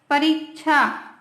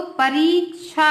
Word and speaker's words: परीक्षा: Next है परीक्षा, तो परीक्षा होता है, सही शब्द क्या है इसका? परीक्षा। उसी प्रकार प्रतीक्षा, प्रतीक्षा नहीं, प्रतीक्षा, ठीक है, मतलब वेट करना, वही है क्या?